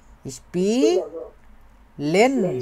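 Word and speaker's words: spielen: উচ্চারণটা শিখি আমরা আগে। স্পি লেন স্পিলেন স্পিলেন স্পিলেন মানে কি?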